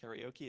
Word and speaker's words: karaoke: speakers in the room I am not going to refer to this as K in the interest of crosscultural communication it will be pronounced karaoke as much as it might hurt to hear um so most of